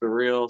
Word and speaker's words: Cyrille: And it's like, if you, I know my name can kind of look a little weird, but it's pronounced Cyrille.